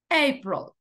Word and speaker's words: April: acentúa la vocal March april esta tiene dos sílabas pero se acentúa la primera nosotros decimos abril Sí